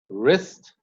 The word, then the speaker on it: wrist: If a word begins with WR, the W goes silent. Wrap, wrinkle, wrist, right, wrong.